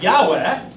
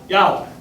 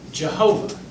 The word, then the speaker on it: Yahweh: the 20th century, when scholars in Hebrew began to realize that they hadn't quite figured out the vowels right.